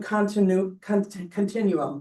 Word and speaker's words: continuum: He talks about the cultivation continuum, excuse me. I always try to add an extra syllable in there.